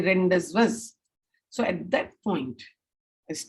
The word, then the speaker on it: rendezvous: So it's pronounced as rendezvous.